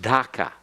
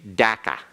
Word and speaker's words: Dhaka: waver all right so it's actually supposed to be spelled d-h-a-k-a and pronounced DACA but the British say DACA all right that's what